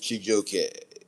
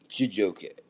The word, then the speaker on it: Chijioke: First, the middle name of my government name is Chijoke. That's spelled Chijioke. Chijoke.